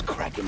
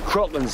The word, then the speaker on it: Kraken: I don't think it's Kraken anyways. Always heard it said Kraken. Well, we always pronounce it Kraken. No. Crocken's how it's pronounced in the original Scandinavian. But what happened was Kevin McNally was the first character to actually speak the name of it, and he pronounces it Kraken.